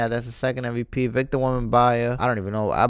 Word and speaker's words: Wembanyama: Victor Wembanyama. I don't even know. I butchered his last name. Wembanyama.